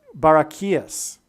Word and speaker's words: Barachias: G 914 in the concordance, in the Strong's Greek concordance, is the word Barachias, pronounced like this, Barachias. Okay, so it's pronounced Barachias, which is a key, which is huge because that's the symbolism that is involved in these connections.